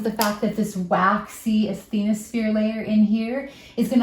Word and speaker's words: asthenosphere: And this we call the asthenosphere, as the no sphere.